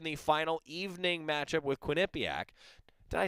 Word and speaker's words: Quinnipiac: ducks are in the final evening match-up with quinnipiac did i say that right i always get